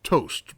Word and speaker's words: tar0s: load time fix tar0s i think that's supposed to be pronounced toast brother no i'm looking